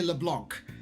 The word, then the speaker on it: Leblanc: top there, it's cafe Leblanc. There's a C at the end of that word, and it bugs me that they don't pronounce it.